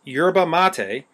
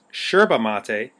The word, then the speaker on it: yerba mate: let's get into it yurba mate pronounced yurba mate or sometimes Sherba mate is a shrub native